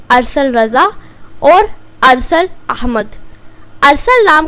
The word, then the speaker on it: ارسل: to smart light tube आज का नाम है अरसल असल नाम के इंग्लिश में स्पेलिंग है ए आर ऐस ऐल जिन्हें लड़का